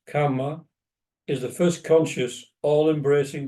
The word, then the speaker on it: karma: In India, the K-A-R-M-A is often pronounced karma to distinguish it from karma, which is K-A-M-A, and which is usually thought of as desire, as in the Kama Sutra, for example.